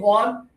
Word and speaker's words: Juan: Do you have any friends named Juan? Of course, very popular name. Put up one finger, everybody, Juan.